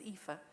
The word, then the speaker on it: Aoife: So my first name is Aoife, and nobody can ever pronounce it.